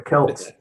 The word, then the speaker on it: Celts: Well, I have the same problem with that I have with native Ireland people, the Celts or the Celts. I never know whether it's a hard C or soft C.